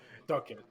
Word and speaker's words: Dukit: Dunkit.